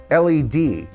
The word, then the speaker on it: Led: fact that lead, spelled L-E-A-D, could also read lead, like lead guitarist. So brilliantly, he dropped the A. L-E-D not only was an original way of spelling lead, but there's no mistaking of the pronunciation of that first part of the name.